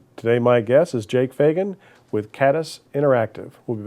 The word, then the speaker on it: Fagan: I said Fagan. Was that wrong? No, that is correct.